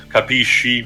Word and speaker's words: capisci: detailed American expression because the correct pronunciation would be, and written also, capisci with an I at the end.